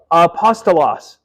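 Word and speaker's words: ἀπόστολος: So let's pronounce this one together, okay? A, pa, s, ta, los. Apostolos.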